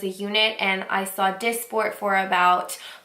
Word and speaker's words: Dysport: call it I've heard I pronounced it dice for but I was corrected I think it's Dysport um so I heard